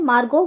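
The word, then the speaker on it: Margot: मार्गो तो यहां पर जो मार्गोट में टी साइलेंट है तो मार्गो है ये तो मेरी जो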